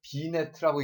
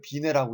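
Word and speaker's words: Binet: 여기 이제 이걸 갖다 비네트라고 읽지 않고요. 비네라고 있습니다. 여러분 삐아제트라고 읽지 않죠? 그냥 삐아제라고 하죠. 이 사람 불어거든요. 여기서 T가 빠집니다.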